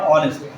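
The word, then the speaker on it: honest: পাব তার এখানে এইচ আছে এই আছে কিন্তু উচ্চারণটা হচ্ছে আমাদের ও এর কাছে চলে গেছে দেখো আওয়ার অনেস্ট এরকম যদি আমরা কোন ওয়ার্ড পাই যেখানে আমাদের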